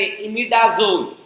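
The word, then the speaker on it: imidazole: और एक और रिंग होती है 11th वाले बताएंगे, इमिडाजोल। झोल वाला झोल नहीं, इमिडाजोल।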